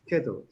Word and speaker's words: schedule: No che. Ske. La Schedule. CH en inglés pronuncia como K.